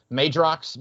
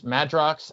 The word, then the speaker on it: Madrox: multiple man i always thought it was a magerox but it's madrox uh and so i always thought it was